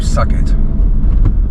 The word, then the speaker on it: Southgate: Or if we think about my family ancestors in Norfolk, New Suggett. Because that's how they pronounce their name.